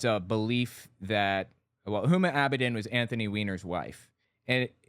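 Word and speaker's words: Huma Abedin: I'll phrase it differently hum abidin is how her name is pronounced is he really this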